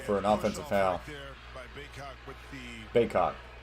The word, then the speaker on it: Bacot: Is it Backett or Bacot? 3 officials quickly restore order. Mondo put his shoulder into him, and they called for an offensive foul. Baycott. That's how you say his name.